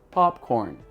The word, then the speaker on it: popcorn: O primeiro deslize acontece na segunda sílaba da palavra popcorn, que ele parece falar encostando os lábios. Esse N do popcorn é um voiced alveolar nasal.